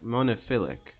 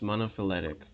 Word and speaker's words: monophyletic: ancestor especially not one you said monopoly the first time well that was close in any case it's pronounced monophyletic i'm probably going to